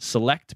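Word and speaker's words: Celect: sensing firm which is I believe it's pronounced select but it's with a C and they said that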